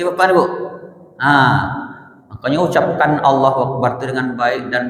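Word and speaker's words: الله: Makanya ucapkan Allahu Akbar itu dengan baik dan benar. Itu lafaz jalalah itu gak bisa dimain-main Bapak Ibu. Dah sebelum la tu berbaris di atas berbarisnya fatah Allah berarti bacanya tafkim tebal j Allah ya bapak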